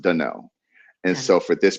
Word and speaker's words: Danell: if anybody wants to know where Danell came from, Danell is actually the original pronunciation of my middle name. It's spelled Nice. Danielle, but it's pronounced Danell.